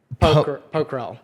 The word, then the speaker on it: Pokhrel: I am your host, and with me today, sorry if I pronounce this incorrectly, but it's pronounced Arya Pokhrel.